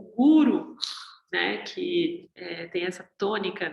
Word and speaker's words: guru: No Oriente, o guru, né, que tem essa tônica dessa palavra, então, a tônica na primeira sílaba, né, guru, ele vem como uma